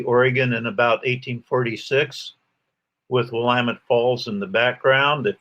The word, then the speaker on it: Willamette: memonic i guess um the name is pronounced willamette dammit uh however the earliest